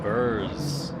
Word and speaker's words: BRZ: You see BRZ, you'd say he's a Burz.